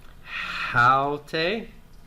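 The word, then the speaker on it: αὕτη: Haute, rough breathing and accent on the first syllable.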